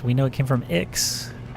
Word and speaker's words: Ix: And we don't know where it came from, except we know it came from Ix, which is a planet that's not pronounced 9.